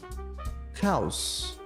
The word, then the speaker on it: house: family President Presidente President House note também o e não pronunciado aqui House casa House student